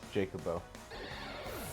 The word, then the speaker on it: Jacobo: trainer name uh I it's Jacob with an O jacobo like the chicken in Final Fantasy venison you are by